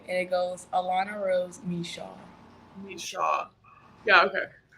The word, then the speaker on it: Micheaux: for people so that they know and don't mispronounce it okay so Rose is my middle name and it goes Alana Rose Michelle need a shot yeah okay I we we